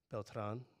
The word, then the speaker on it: Beltran: My last name is Beltran, should be pronounced Beltran.